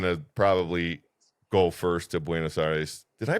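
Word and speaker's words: Buenos Aires: Give us the perfect pronunciation. Buenocides.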